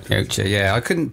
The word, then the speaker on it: Yautja: Yautja. Yautja, yeah. I couldn't pronounce it, that's why I said, what's the alien called?